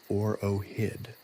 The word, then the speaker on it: OROHD: The decree further mandated the establishment of a new governmental department, the Office for the Regulation and Oversight of Handheld Digital Devices, OROHD, pronounced OROHID, which prompted considerable amusement among the court jesters.